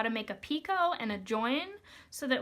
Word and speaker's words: picot: It is a French word, so we do not pronounce the T. It is not picot, it is picot.